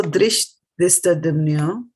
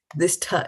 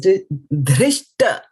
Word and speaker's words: Dhṛṣṭadyumno: You did a dha here, but here is just a ta. It is not tha. Right. This is just a t. Right. This will be tha. dhṛṣṭadyumno. Yeah. Drishtha. See, drishtha. It's not drishtha. It is drishta.